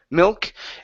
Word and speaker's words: milk: two things so here instead of saying milk with an IE milk it's a mill milk and then here instead